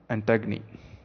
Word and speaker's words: Antigone: get into the play antagni as it is rightly pronounced so plot overview i